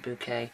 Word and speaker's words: Bucket: Bucket, depends on, well, no, it is Mrs. Bucket, but she pronounced it Mrs. Bouquet in the BBC sitcom Keeping Up Appearances, that's having one of those remembering documentaries out this week.